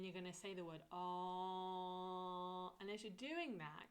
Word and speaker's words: Om: So my tongue is at the roof of the mouth. So it's Om.